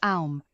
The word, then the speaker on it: Om: The Bija mantra, Om, pronounced Aum, will help balance her intuition and calm the mind.